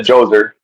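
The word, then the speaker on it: Djoser: which you said Joser uh for those that don't know it's spelled with a D which makes zero sense and but whatever.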